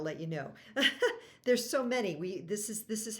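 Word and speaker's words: ม้า: Ma, high tone, is a horse.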